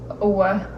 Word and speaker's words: Ouija: Yeah, but an this is Ouija. pronounced Owa.